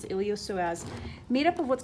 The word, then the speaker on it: iliopsoas: actually a combo muscle it's called the iliopsoas it looks like iliopsoas but it's a silent p so it's the iliopsoas made up of what's